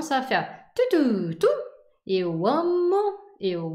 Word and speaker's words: amo: de vous dire que c'est toujours l'avant-dernière syllabe qui est la syllabe forte. Donc, eu amo, eu gosto, eu estudo.